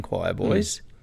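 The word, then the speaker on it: Choirboys: boys not to be confused with the australian choir boys the uk band is spelled q-i-r-e-b-o-y-s and um they're kind of more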